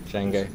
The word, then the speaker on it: Django: have rail people or Django people or I always pronounce a d accidentally so Jango yeah and rails how